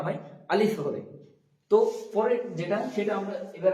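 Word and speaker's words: ت: পরে উচ্চারিত হবে বা তা উচ্চারণ করার সময় দেখব যে আমরা জিভেটা দুটো দাঁতের সামনের দাঁতের তলে চাপ খেয়ে উচ্চারিত হচ্ছে তা উপরের দাঁত জীবের আগার উপরে চাপ লেগে তা উচ্চারণ হচ্ছে তারপরে আছে ছা।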